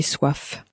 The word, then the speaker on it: soif: Now you may notice that the F on the end of soif was very clearly pronounced, but the M on the end of faim was not pronounced, at least not clearly.